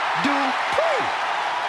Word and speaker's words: Dupri: Uh, Michael, it's pronounced Dri. The following contest is scheduled for one fall. Making her way to the ring from Phoenix, Arizona, Maxine Dri.